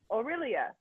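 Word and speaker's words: Orillia: This video is a minute long for how to pronounce this word. Oh, Aurelia.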